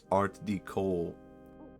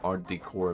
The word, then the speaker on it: Art Deco: Phonetically, Google claims it's Art Deco, but who knows? Damn, I've just been wrong. I've been saying it on stream as Art Decor like some kind of moron.